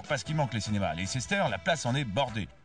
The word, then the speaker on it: Leicester: je vous emmène la l sister square prononcé lister l sister Square est